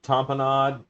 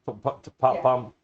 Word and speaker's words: tapenade: It's like olive tamponade, Tapenade.